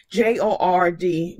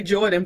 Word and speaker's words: JORD: J-O-R-D, JORD. I always want to say Jordan, but I know it's not Jordan.